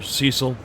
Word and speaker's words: Cecil: private stuff and finally GTN or Cecil I was told pronounce it that way so I'm gonna go with that Cecil sisl he has